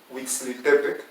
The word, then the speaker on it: Huitziltepec: pues entonces la idea es que esta palabra huixtepec y decimos es el nombre correcto de este pueblo pero que ya lo pronunciamos bien cometemos enfrentar plasmo y nos comemos